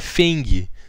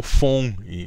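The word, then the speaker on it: 风: Vento é Feng, né? Ou Fong, na pronúncia correta. E aí, ou mais ou menos correta, né?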